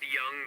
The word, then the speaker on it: Jung: Or as Tony called them at one point, the Jung Dragons. Right. How would he know any different? What, Tony? Yeah. Well, they actually spelled it with a J. Yeah, pronounced Young, they so spelled it J.